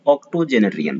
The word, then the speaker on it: octogenarian: Then comes 109th number और आज का fourth number word, that is ऑक्टोजेनरियन। पढ़ते ऐसे हैं, ऑक्टो जेनेरियन, ऑक्टोजेनेरियन, 80 साल का, जिनका